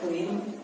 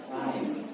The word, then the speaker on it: climb: Some of you guys pronounce it clean. Yeah, clean. Not clean, but climb. Without D. Yeah, you say that without the climb. Or climbing. Not like that. Same thing like comb.